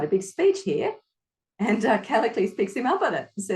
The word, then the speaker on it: Callicles: How do you pronounce that name again? Which one? Because there's the one that starts C. Cassilis, Callicles.